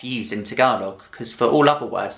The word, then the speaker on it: Tagalog: foreigners pronounce talog wrong they'll say it as Tagalog when you should be pronouncing it as talog the middle syllable kind of has a a sound it's not a it's talog talog and then saying the name of the